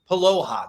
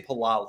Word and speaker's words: Paloha: Paloha, that's it. I say Palala. I put 2 L's in there.